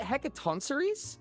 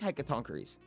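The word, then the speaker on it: Hecatoncheires: Is it Hecatonceries? Or is it Hecatonkeries? It is Hecatonkeries.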